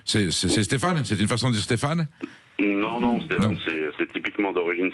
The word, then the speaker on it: Stéphane: Oui, bonjour monsieur, oui, c'est comme ça Stéphane, oui. Bonjour Stéphane. C'est la même racine patronymique, hein, je veux dire, Stéphane. C'est Stéphane? C'est une façon de dire Stéphane?